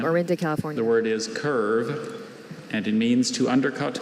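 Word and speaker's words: kirve: Curve was probably formed from an English word.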